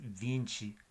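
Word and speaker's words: vinte: TE se pronuncia más como chi, chi, chi. Bueno, no lo hice bien, pero voy a usar ejemplos. El número 20 es vinci, vinci y en portugués.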